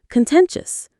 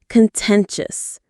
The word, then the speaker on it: contentious: the school environment itself contentious. This is a really useful word, contentious. Contentious. Contentious. The stress is on the 10 syllable.